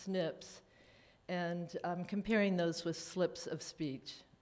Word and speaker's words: SNPs: It's an acronym spelled capital SNP, but pronounced SNPs, and I'm comparing those with slips of speech, thus the title Snips, Slips.